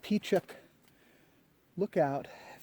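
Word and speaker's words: Pechuck Lookout: entertained going to that P Chuck look out that's how you pronounce it but I don't know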